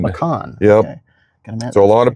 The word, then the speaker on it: Macan: And it's pronounced Macan. So, Macan. Macan. Okay. So, a lot of people will call it a Macan or Mackan, but Porsche calls it Macan.